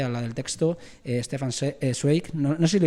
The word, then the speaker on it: Zweig: la del texto stefan zweig no nos sirve dicho bien la pronunciación es wake bye bye yo mi